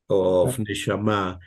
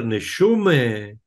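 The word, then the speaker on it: נשמה: I didn't criticize your way of pronunciation of neshama. The most important thing why I said this commentary is because as Yiddish is my first language, when I hear neshume, is another music.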